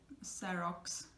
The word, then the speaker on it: xerox: But just remember, so in the beginning, it's going to sound like an s, one sound, because in Spanish it's not really natural to give you like 2 sounds in the beginning.